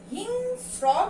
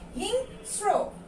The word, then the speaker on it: হিংস্র: তারপরে কি আছে আমাদের, স্মৃতি, তারপরে কি দেয়া আছে, হিংস্র কিন্তু না, আমরা এটার উচ্চারণ কি করি, হিংস্র, তাই আমরা হিং ওকার দিয়ে লিখব, হিংস্র।